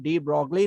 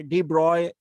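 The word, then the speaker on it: de Broglie: तो 1924 में डी ब्रॉगली नाम के एक साइंटिस्ट थे। डी ब्रॉगली, और जो जर्मन एक ये वर्ड है डी ब्रॉय भी बोलते हैं, जो सही प्रोनाउंसिएशन है वो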